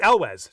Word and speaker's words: Elwes: It's Elwes, just so you know. It's Elwes.